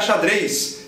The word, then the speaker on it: xadrez: Mesma coisa para xadrez. Vamos jogar xadrez. Tá aí o Z escrito em posição final sendo pronunciado S.